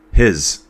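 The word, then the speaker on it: Gijs: His. It's probably one where you don't say the G and you don't say the J.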